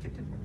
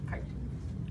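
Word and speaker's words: chiton: foot um there's another thing called it's not pronounced kitten it's pronounced height that belongs to polyplaca form and of course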